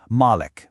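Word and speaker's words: مَالِك: Some people recite it as Malik, with a long A sound. That means owner. Others recite it as Malik, with a short A sound, which means king.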